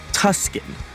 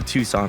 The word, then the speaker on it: Tucson: the what you're right I also found out I was pronouncing Tucson Arizona Tuscan because that's how it's spelled I did not know I was going to Tucson I thought I was